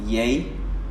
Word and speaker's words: Yeye: I was like yeah but then again it's pronounced yay as in why a why yay why a